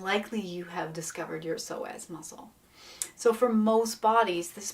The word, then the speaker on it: psoas: obsessed with the fascia, but also with the psoas muscle. It's spelled P-S-O-A-S.